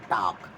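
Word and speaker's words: talk: पर बोला जाता है टॉक यहां बोला जाएगा नो तो अब देखिए यहां टॉक टॉक बोलते हैं एल साइलेंट रहता है तो एल क्या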